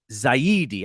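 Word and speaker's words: Farhan Zaidi: on giant cocktails podcast he pronounced it so much better than i do zaidi i just want to say zayn yeah just because that's how it looks like how it's supposed to say yeah um you know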